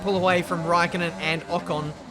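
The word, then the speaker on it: Ocon: räikkönen and a con and finally pronounced a con correctly it's just one of those things I never think about until people correct me on it so I'll try and say ah Khan from now on while we're at it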